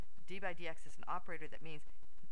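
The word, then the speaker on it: d/dx: This is pronounced d by dx or df by dx.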